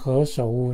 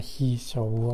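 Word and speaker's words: 何首乌: First one is called He Shou Wu, not He Shou Wu, okay? This pronounced He, like He.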